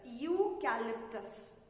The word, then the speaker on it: eucalyptus: Y-P, eucalypt, E-U-C-A-L-Y, calyptus, T-U-S-tus, eucalyptus. Eucalyptus is a kind of a tree. Okay? Eucalyptus. Pronounce it eucalyptus.